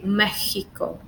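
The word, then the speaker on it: México: to pronounce in Spanish Mexico you say Mexico Mexico now let's go with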